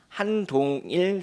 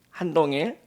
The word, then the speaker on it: 한동일: 분이 있습니다 이제 이름이 한동일 선생님인데요 발음을 잘해야 됩니다 지금 여당 대표로 일하시는 한동훈이 아니고 한국인 최초로 이제 로마 교황청에서 변호사 자격 시험을 합격하신 한동일 그 신부님입니다 이제 저는